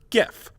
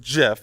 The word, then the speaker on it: GIF: Therefore, it's reasoned that since graphics has a hard G, so should GIF. But the inventor has said that it should be pronounced GIF, and he's tired of people mispronouncing it.